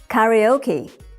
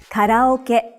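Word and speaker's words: カラオケ: Japanese speaker another example how do you say this word in English you would say karaoke but in Japanese you say Carol kit remember that each syllable in Japanese is pronounced for the same length of time and gets equal stress now to close the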